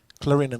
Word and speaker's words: Clarendon: you also have a celebration coming up with Clarendon College, right?